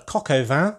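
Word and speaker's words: coq au vin: on the dish uh kokova which is a french dish of chicken braised in wine and when pronounced in english at least sounds a bit like van so basically that's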